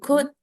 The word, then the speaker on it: could: Ini juga could. L-nya aku baca, jadi Could. kayak tadi should, could. Could. Oh Ya, well, you you could.